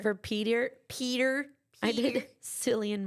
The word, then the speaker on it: Cillian: Cillian Murphy. I think is how you say his name from Peaky Blinders.